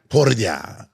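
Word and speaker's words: Poirier: great job with Dustin yeah that's how you pronounce his name one more time por sounds amazing it's not bad so we're going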